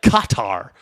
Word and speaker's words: Qatar: Okay, so on Fox News they say Ossoff, like Qatar. The accent is on both, like the syllabic accent is on both syllables.